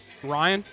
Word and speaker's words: Ryne: Ryan.